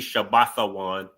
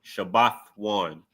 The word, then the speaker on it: Shabbath: So instead of it would be Shabbathan, you wouldn't uh you would pronounce the root word which is Shabbath and then add one. Shabbath one just like how you would do a preposition or possessive.